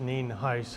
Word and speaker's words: Nienhuis: It's spelled Nienhuis, and it's pronounced Nienhuis.